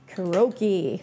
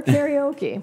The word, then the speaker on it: karaoke: my favorite hobbies is kuroky or karaoke oh wow depending on how you want to pronounce it I'm okay either way and I have used